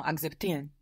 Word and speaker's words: akzeptieren: To accept was spelled A-K-Z at the beginning. Zs in German, we said, are pronounced T-S. So the beginning bit of that word might be a bit challenging. Accept. Ah, no, akzeptieren. Akzeptieren. Do you accept it? Accept. So you must do it slowly.